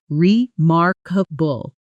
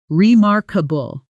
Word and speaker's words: remarkable: Stress lands on the second syllable, remarkable. Slowly, remarkable.